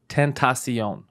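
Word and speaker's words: XXXTentacion: So his name is XXX Tentacion. But what's Tentacion mean? He just made it up. That's his name. Just the Tentacion. I think it's supposed to sound like temptation. It doesn't.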